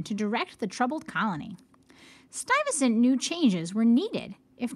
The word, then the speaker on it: Stuyvesant: off with Peter Stuyvesant this is how you pronounce his name that's why it's next to it Peter Stuyvesant arrived in the new Netherland as its new